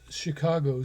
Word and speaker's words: c4ica9o: you can see that its name is Chicago spelled with a four for the first h and a nine for the z g you can read about